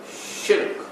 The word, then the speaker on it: shirk: The pronunciation of the word is shirk, which is one syllable. Don't make it two.